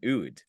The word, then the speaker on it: oud: A bouzouki, a doumbek, and an oud.